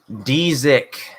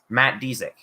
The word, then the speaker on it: Dzik: So Dzik is kind of the way to pronounce it. Dzik. Oh, okay. Dzik. Okay, so you just don't even pronounce the Z at the beginning. It's Dzik. Matt Dzik.